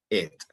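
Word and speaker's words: את: letra del alfabeto hebreo y se pronuncia et la partícula Ed Entonces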